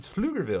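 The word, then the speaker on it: Pflugerville: was called flugerville and like the way you spell it you're like i don't know how to say that people were like oh it's flugerville and it's because it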